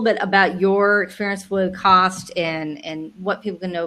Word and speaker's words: CAWST: been with CAWST for 8 years now, and CAWST is how we pronounce the acronym, by the way. Some people will call it CAWST or something else, but the proper way is CAWST.